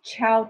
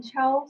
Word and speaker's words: Chao: So in China, people call me Chao. So we shaped right. The position of the last name and first name. So Chao, actually pronunciation, just like the Italian greeting word, Chao.